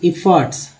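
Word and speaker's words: efforts: इफ़र्ट्स, ओ को आ पढ़ा गया यहाँ पर, ठीक है, आ पढ़ा गया तो इफ़र्ट्स हो गया, ओ का उच्चारण आ के रूप में हुआ है, तो इफ़र्ट्स आ।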